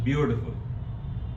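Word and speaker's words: beautiful: ब्यूटीफुल P green board ब्यूटीफुल में ट हम प्रोनाउंस नहीं करते सॉफ्ट ड लगता है इट इज ब्यूटीफुल ब्यूटीफुल P green board they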